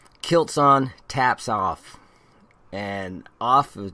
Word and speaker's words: aff: on Taps off and off in their dialect is spelled AF kilts on and in